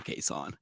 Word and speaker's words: Cason: But the man looked at us and said, it's pronounced Cason. Now, technically, he told you all that his mother calls him Cason.